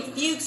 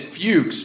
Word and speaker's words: Fuchs: It's next level, and believe me, I did a deep dive to make sure I was pronouncing her name correctly. I checked multiple sources. It's F-U-C-H-S.